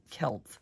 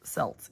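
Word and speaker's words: Celts: found the Kelts and I'm sorry I pronounced Kelts selts in a past video and I really apologize for that because I know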